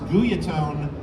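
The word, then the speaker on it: Guyatone: I own one it's a guy atone properly pronounced guia tone Vaz fuzz or buzz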